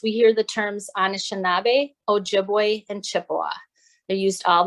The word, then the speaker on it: Ojibwe: in their own language chippewa is a mispronunciation of ojibwe so all those words